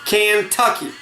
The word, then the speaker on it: Kentucky: called by indians kentucky which they pronounced with a strong emphasis kantucky so they said marshall